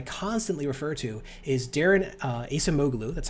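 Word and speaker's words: Acemoglu: economists that i constantly refer to is darren asamoglu that's how it's spelled ace moglu and one of the really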